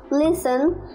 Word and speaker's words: listen: words with silent t t is silent in this world castle person orphan tissue prison christmas listen whistle wrestle hustle thank you very much